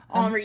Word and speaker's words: Henri: Henri, yeah.